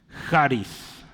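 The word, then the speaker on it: χάρις: se pronuncia Esa es la palabra griega para gracia es haris Sí con acento en la el acento Acá está jaris es gracia sí es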